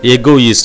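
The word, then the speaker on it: égoïste: இப்போது ஈக்கு மேலே வரக்கூடிய அந்த accent trema வர்றதுனால அது என்ன செய்கிறோம் அப்படின்னு பார்த்தீங்கன்னா அது பக்கத்தில் இருக்கக்கூடிய எஸ் கூட சேர்த்துடுறோம். அப்போ அந்த எஸ் சவுண்டு நம்ம ப்ரொனவுன்ஸ் பண்ணுற மாதிரி பார்த்தீங்கன்னா ஈஸ். அப்போ ஈஸ்ட் எகோயிஸ்ட். இதான் சிம்பிள் வே.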